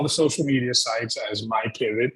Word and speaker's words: MyPivet: So we're on all the social media sites as MyPivet, MyPivet, and we spell pivot phonetically.